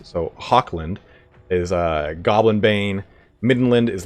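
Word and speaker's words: Hochland: You guys have corrected me on how to pronounce Hawkland, because it's like Loch Ness. So Hawkland is Goblin Bane.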